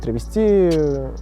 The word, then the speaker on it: травести: Изначально термин с ударением на последний слог, то есть травести, пришел к нам с театральных подмостков.